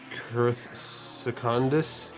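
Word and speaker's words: Secundus: Uh it's called it's spelled s e c u n d u s and it's called kicandis.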